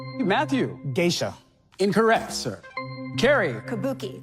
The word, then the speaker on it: kabuki: of Japanese theater Matt kabuko incorrect Matthew gisha incorrect sir Carrie Kabuki Kabuki Kabuki that's the pronunciation that we were looking for Carrie you are in